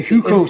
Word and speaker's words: Hukou: The one that I found the most interesting was about the, I don't know how to pronounce it, Hukao? The Hukou system, yeah.